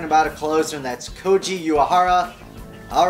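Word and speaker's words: Koji Uehara: I'm also talking about a closer and that's Koji uara all right good job you said it right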